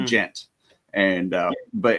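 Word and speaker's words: djent: It's pronounced gent and uh but it's basically like it it's complete like math core and like total offbeats and timings.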